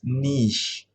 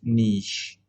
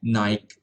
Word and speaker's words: niche: The pronunciation written in brown, it's niche. Yeah, it's niche. Don't say it Nike, niche.